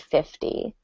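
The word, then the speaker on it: fifty: The T will sound like a D. So that's another difference between 15 and 50. You can say a D for 50, And for 15, you might pronounce the T more.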